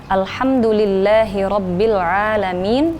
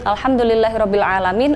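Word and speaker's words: الحمد لله رب العالمين: ini ada ayat alhamdulillahirobbilalamin nah biasanya di airnya ini Alhamdulillahirobbil alamin jadi main itu ketuker dengan Hamzah Padahal kalau itu kan dia kayak ada di langit-langit tenggorokan ya Aa nyoba jadi alhamdulillahirobbilalamin seperti itu membacanya air tapi banyaknya membaca dengan Hamzah Alhamdulillahirobbil alamin atau Alhamdulillahirobbil ngalamin Noah itu ada juga Memang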